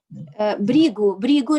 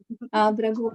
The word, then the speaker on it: Bhrigu: Бригу Риши. Bhrigu. Yes. It is no. He is not Russian. Yes. Bhragu. Брагу. Это на русском мы говорим бригу, а видите, у них это произносится как брагу.